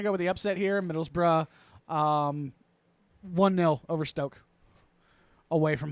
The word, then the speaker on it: Middlesbrough: versus Middlesbrough, which is Middlesbrough. If you need me to respell that, I can.